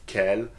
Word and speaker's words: quel: guys to use because the four forms of Kell are pronounced the same way okay just Kel and here are some